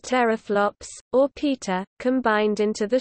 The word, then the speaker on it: teraflops: 10-12 flops, pronounced teraflops, or peta, combined into the shorthand PFLOPS.